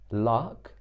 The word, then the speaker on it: lakh: Lark, like a lark, but it's not spelled with an R. It's spelled L-A-K-H.